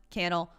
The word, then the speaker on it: Cannell: Torres, and Sean Cannell at Sean Cannell, rhymes with channel, over on Instagram so we can see your favorite episode so far.